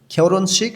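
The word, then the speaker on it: 결혼식: খেওর শিক বিবাহ অনুষ্ঠান রিউলের উচ্চারণটা জোরালো হবে হিউতের উচ্চারণটা হবে না বললেই চলে কোরিয়ানরা এভাবে উচ্চারণ করে খেওরন শিক বিবাহ অনুষ্ঠান ফাক্তা উজ্জ্বল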